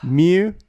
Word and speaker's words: Mew: Why isn't Mew called Moo? That's what I want to know. Because that's not how you say it.